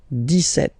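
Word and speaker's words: dix-sept: But then for the pronunciation, 17. Okay, so you don't insist on the S.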